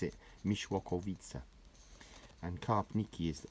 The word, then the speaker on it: Mieszkowice: You pronounce it Mieszkowice, and Karpniki is like a neighbouring village to Mieszkowice, as is Wojanów.